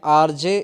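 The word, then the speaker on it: RJ: आरजे आरजे का pronunciation क्या होगा? यहाँ पे देखें आर जे। इससे पहले की वीडियो में हमने आर्टिकल का यूज़ बताया है। तो आरजे का जो पहला अक्षर क्या है? बड़ा आ है।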